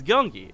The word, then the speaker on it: Gyeonggi: easy right like if I close my eyes gungi like yeah but if I try and read this out phonetically it's a Yong wow that's so different